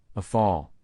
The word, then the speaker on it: Rafale: The Dassault Rafale, French pronunciation, a fall, literally meaning gust of